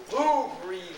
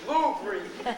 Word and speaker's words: Louvre: It's pronounced Louvre, Louvre.